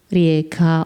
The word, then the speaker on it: Rijeka: notes about this city the city's name is in creation is Rea which means River um while in Italian it's called fume which means the same thing and in English when speaking in English we can use both uh terms Rea or fuma different authors make different